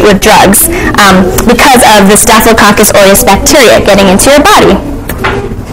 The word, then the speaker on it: Staphylococcus aureus: It's Staphylococcus aureus.